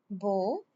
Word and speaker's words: beau: Il est beau. Beau e a en français pronounced o.